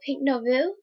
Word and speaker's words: Pink Nouveau: I put on some of my MAC lipstick, Pink Nouveau. That's how you pronounce it.